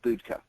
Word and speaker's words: Budka: It's Budka. Budka. That's it. I'm going to spell it.